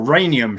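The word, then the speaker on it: rhenium: Um but interestingly um they suggested reinium goes on as well or reanium should I say pronounce it the American way.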